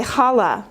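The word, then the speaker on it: חלה: you say it and I pronounce things with the CH sound because it's it's in the back of your throat being raised in a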